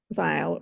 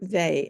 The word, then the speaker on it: Weill: so who is there vile or they as the family pronounced it um she was a